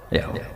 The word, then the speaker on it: Yahweh: Iku nak teng ejaan Latin Y besar, A H besar, W E H besar, Yahweh. Lah Yahweh nak sampean maca ya Allah mbok imalahno iku ya wis napa? Yahweh sama.